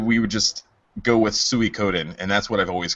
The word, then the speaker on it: Suikoden: and I, decided we would just go with Suikoden, and that's what I've always called it since then. So there's probably someone out there yelling at me right now for mispronouncing the game. No, it's correct. Suikoden.